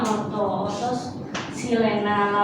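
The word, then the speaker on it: orto-xilena: Kemudian ini orto ya, ini O itu adalah orto. Dibacanya orto silena.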